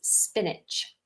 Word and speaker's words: spinach: And then another type of leaf that is very popular is spinach. Spinach, not spinach. Spinach.